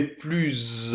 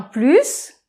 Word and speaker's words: plus: - Oui - Et pas de liaison, SS. - Donc par exemple, on pourrait dire aussi, tu es pluZZ en forme que moi.